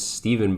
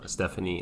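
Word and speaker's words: Stephen: my first name because my name spell is steven but it's spelled with a p-h-e-n and i get all sorts of things like stefan's the stuff stephanie like all that stuff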